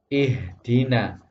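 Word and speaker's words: اهدنا: Maka ini dibaca ihdina, ihdina. Tidak boleh suaranya diputus, ihdina, ihdina. Itu tidak boleh.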